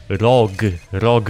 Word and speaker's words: ROG: Nie, napisałem o rogu, rog, jak róg, róg, rog, tylko że przez o.